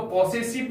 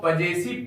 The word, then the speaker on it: possessive: प्यारे बच्चों, हम लोग इसको POSSESSIVE इसको पॉसेसिव नहीं पढ़ेंगे, इसको पजेसिव पढ़ेंगे।